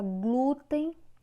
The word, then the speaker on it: glúten: Na palavra glúten, o glu é que tem uma força maior. Nesse caso, é paroxítona.